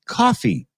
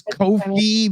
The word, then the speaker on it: Ko-fi: Nobody knows how to say that. It turns out that they actually meant it to be pronounced coffee. They're literally just playing on buy me a coffee, right?